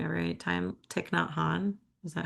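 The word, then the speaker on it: Thích Nhất Hạnh: I've been listening to I feel like I say his name wrong every time. Thich Nhat Hanh.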